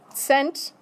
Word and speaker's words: Cent: German is sent sent okay by the way pronunciation good o Ro okay okay so sent is the same thing is sense never has